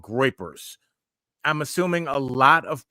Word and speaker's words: groypers: Groypers are a very aggressive meme. How do you spell that? Groypers, GROUPERS. I think that's it. I think it looks like groupers, but it's groypers.